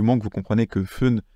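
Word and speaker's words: 分: que vous comprenez que fun c'est le compteur pour les minutes et que parfois ça se prononce Pun pour faire la liaison ça devrait très bien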